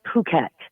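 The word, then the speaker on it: Phuket: Chris is p h u ke T it's pronounced puket like thank God that's the case Chris because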